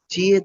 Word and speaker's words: 接: হ্যাঁ, 接待， চিয়ে তাই 接待， হ্যাঁ, 接待，接待，接，হ্যাঁ, 接 চিকেনের চ, 接，接待， স্যার